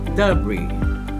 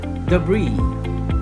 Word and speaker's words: debris: In British English, this word would be pronounced debris, debris. Once again, the American version is debris, debris.